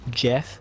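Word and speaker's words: geth: the quarians and the gef the gift of the robots and the quarryants enslaved to get off it's creating them it's pronounced Jeff and after the Jeff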